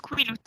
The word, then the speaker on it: Quileute: Il me Alors semble les que Quileutes, ça se justement- prononce Quileute.